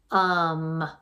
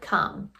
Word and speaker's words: come: So this word is come. And that E is there just to remind us that that O is actually making a short U sound, and that we